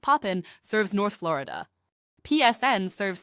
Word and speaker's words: POPIN: POPIN, pronounced Poppin, serves North Florida.